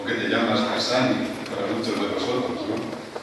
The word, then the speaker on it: Cassany: nacido en Barcelona, entonces mi apellido en catalán se pronuncia Cassany, pero nadie me conoce por este nombre. Aquí en América, gracias, la manera más habitual como me llaman es Cassany, Cassany.